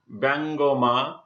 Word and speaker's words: ব্যঙ্গমা: ব্যঙ্গমা, অনুরূপভাবে আমরা দেখতে পাচ্ছি যে এখানে ব্যঙ্গমা উচ্চারিত হয়েছে, অর্থাৎ একার রূপে উচ্চারিত হয়েছে।